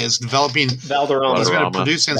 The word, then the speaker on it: Valderrama: I thought this was cool news that Wilmer Vaderman, I think that's how you say it, is developing. Valderrama.